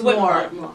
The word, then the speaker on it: Whitmore: I don't know how to pronounce it. Whitmore. It's Whitmore.